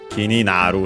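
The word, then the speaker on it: 気になる: Simply, I'd say, considering that it should be that naru, simply kini naru, so accent on the na.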